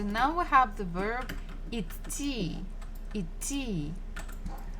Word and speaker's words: идти: So we have letter D in the middle. идти. But it's a little bit difficult to pronounce two consonants together when one is voiced and the other one is devoiced. Идти, идти. So basically, when I'm pronouncing it, or when Russian people are pronouncing, we kind of don't say the. So just say идти, идти, идти.